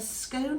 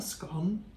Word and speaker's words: scone: your tea at all so it's a scone or scone pronounced either way with your cream in